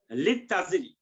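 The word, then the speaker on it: لِلتَّاجِرِ: আলিফ যেহেতু এটা টা হলো হরফে শামসিয়া, এই জন্য লামের উচ্চারণ হয় না, লামটা থেকে যায় কিন্তু উচ্চারণ হয় না। লিত তাজিরি আর লিত তবিবি ওই একই কথা।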